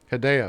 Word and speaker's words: Hideo: happens so badly I you're supposed to pronounce it like video but with an H hideo yeah that's what I